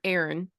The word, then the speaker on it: Aaron: couple things so one your main character Aaron is that how you say it y okay with an A so your main character Aaron is a senior but